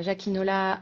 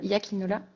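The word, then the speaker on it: Jakinola: qui est situé donc à jacinola à hiakinola oui jainol fend des prononciation euh donc j a K i n o l a pareil on taguera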